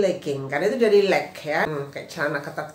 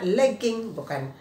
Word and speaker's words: legging: Nah jadi pegawai Jing tapi leke-leke itu bacanya legging legging itu teman-teman kayak waktu tuh log-in ya logout login logout login gitu sama seperti ini kasusnya legging hai oke kemudian